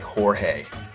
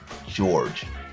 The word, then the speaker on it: Jorge: um, you know, the the the J is pronounced with a with an H sound like Jorge, you know, uh, J J O R G E. It's not George.